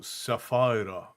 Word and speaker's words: Saphira: Blue-Eyed Witch said my daughter's name is Saphira, but we pronounce it like sapphire with an A, so Sapphira. Sapphira is a lovely name, Blue-Eyed Witch, and welcome in.